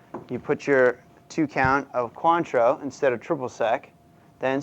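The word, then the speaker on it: Cointreau: right here this is called quantro looks like quintra it is pronounced quantro this is the French orange lure and this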